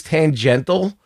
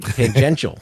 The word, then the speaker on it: tangential: So everything is tangental. Ten, can I say it right? Tangential. Close tangential. Yeah.